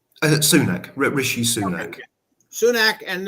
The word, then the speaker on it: Sunak: How do you pronounce his name? Sunak, Rishi Sunak.